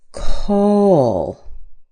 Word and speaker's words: call: Not all dictionaries and pronunciation teachers will show you this, but between the vowel and the L, we put a little tiny uh sound. And this is what it does. It makes it sound like instead of call, listen.